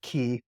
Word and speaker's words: qi: it ke gong so Chi is pronounced key and then saying gong